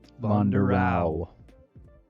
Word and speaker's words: Vonderau: There's no E at the end of his name. It's just AU. VONDERAU.